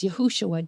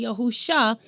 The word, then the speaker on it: Yahushua: See, our Messiah's name is Yahushua, Joshua, which is spelled with 6 Hebrew letters, not 5 Hebrew letters. I know there's a lot of people that say Yahusha, but that's because there's 4 different ways that